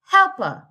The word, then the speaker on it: helper: Helper. The first syllable.